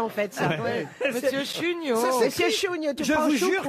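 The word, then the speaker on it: Chuniaud: Monsieur Chugnot.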